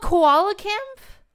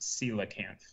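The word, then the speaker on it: coelacanth: fall or something um i'm now finding out that it's it's pronounced sila can't oh um set the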